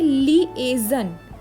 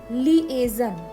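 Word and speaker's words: liaison: इस वर्ड को प्रोनाउंस करेंगे लिएजन। लिएजन, ठीक है, लिएजन।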